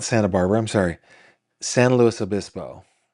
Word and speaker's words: San Luis Obispo: I'm sorry, San Luis Obispo, which is just kills me to say it that way, but that's how people say it. San Luis Obispo.